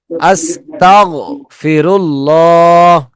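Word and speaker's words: أستغفر الله: আস্তাগফিরুল্লাহ শব্দটা আপনারা চেষ্টা করবেন শব্দটা পড়ার পরে যেন আর না উঠে। আস্তাগফিরুল্লাহ, ঠিক আছে? আস্তাগফিরুল্লাহ, এটা মোটা শব্দ তো, মোটা হরফ, যার কারণে একটু শোনা যায়, কিন্তু মূলত এটা কলকলা হরফ না।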